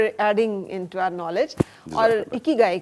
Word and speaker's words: ikigai: इकी गाय इज the right pronunciation for this word.